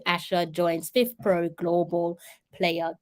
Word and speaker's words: Asher: read it for you it says Asha let's pronounce her name properly China Liu Asha joins fifth Pro Global player Council and it's